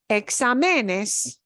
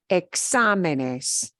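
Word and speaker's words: exámenes: we pronounce that word once I make that particular word plural changes the stress pattern I have to write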